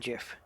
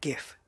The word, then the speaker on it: GIF: this like a named Jeff Jeff Jeff Jeff if not gif I've heard so many people saying gif is just driving me up the wall people who teach him